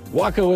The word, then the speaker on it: WACO: So am I pronouncing WACO right? WACO is right.